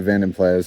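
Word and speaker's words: Vanden Plas: that the VDP, the Vanmplas also has. If you're wondering, that is oddly how it's pronounced. Uh, it's a Dutch word, Van, Vanenas, uh, meaning of the lake or by the lake.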